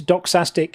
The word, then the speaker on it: doxastic: If you want to look this up more, just look into doxastic involuntarism. That's what this is called. How do you say dog? Doxastic. D-O-X.